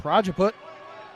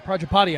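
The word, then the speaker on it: Prajapati: It's Praaput or Projapati I should say.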